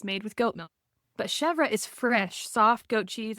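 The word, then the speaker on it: chèvre: interesting yeah is that how you say it chevra I've always said it chev well I did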